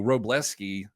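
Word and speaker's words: Wrobleski: They're starting Justin starts with a W. Robleski, I guess the W is silent. I'm not exactly sure.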